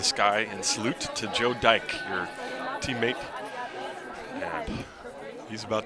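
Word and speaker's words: Dyche: It is pronounced Dyke. D Y C H E.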